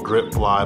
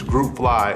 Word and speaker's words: GRP Fly: with the GRP fly some people even pronounce it wrong grip fly but it's group fly and and the definitions